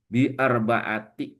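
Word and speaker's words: بِأَرْبَعَةِ: Jadi, setelah huruf jar itu dibacanya kasrah. Nah, ini arbaata arbaatun ya. Di sini bi menjadi bi arbaati ya.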